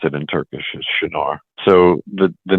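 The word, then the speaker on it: Çınar: it sound Shar yeah and that's how you pronounce it in Turkish shinar so the the name in that region is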